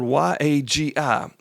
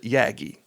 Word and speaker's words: Yagi: So, uh, a Yaggi antenna is a directional antenna and it's, uh, spelled Y A GI. We pronounce it Yagi.